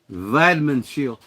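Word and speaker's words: Weidmannsheil: M-n H E I L but pronounced like a V. Vadman shield.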